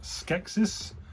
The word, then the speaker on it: Skeksis: Now this is, I believe it's pronounced Skeksis, who is from Dark Crystal.